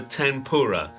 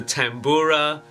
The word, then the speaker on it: tanpura: at a very popular drone instrument called a tempura I would spell it ta n PU RA but it can also be called the tambura and spelled in many ways of course all